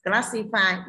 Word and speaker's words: classify: Photography y ngắn, chỉ có classify y dài phát âm là i, cho nên chúng ta chọn c.